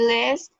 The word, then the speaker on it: est: Il est. Il est. Pour... La S no suena.